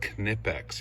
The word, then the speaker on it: Knipex: That's I believe it's pronounced Knipex. You actually pronounce every letter. They're German.